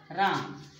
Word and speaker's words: रामः: इस चिन्ह विसर्ग का उच्चारण हा की तरह किया जाता है। जैसे बच्चों हमने कहा राम, राम हिंदी में राम कहा जाता है, संस्कृत में रामः।